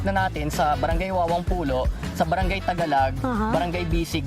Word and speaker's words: Pulo: Kasi mahalata niyo kung hindi kayo taga dito, ang tawag ay polo or pulo pero ang tamang pronunciation ay pulo.